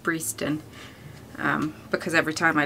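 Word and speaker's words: Breaston: derby but is i've only just learned it's pronounced breeston um because every time i look at her a dress i pronounce it breston and it makes me laugh all over again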